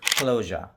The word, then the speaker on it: closure: আজকে আমরা কিছু ওয়ার্ডের উচ্চারণ শিখব যে ওয়ার্ডগুলো শেষ হয় এস ইউ আ ই দিয়ে এবং এর পূর্বে একটি ভাওয়েল থাকে, তাহলে এর উচ্চারণগুলো সাধারণত শেষে গিয়ে যা না হয়ে জ্যা হয়।